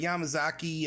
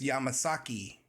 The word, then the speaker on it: Yamazaki: uh sounds like the yamazaki um yamazaki means Mountain promonitor uh in Japanese it's also a Japanese surname um in this also says it's yamasaki in Western Japan so uh let's try